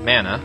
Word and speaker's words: mana: that would be that I looked up the pronunciation of the word mana, and it is indeed mana, so from now on I will be saying it as mana.